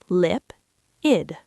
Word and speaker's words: lipid: And finally, lipid, whose stress also falls on the first syllable, lipid.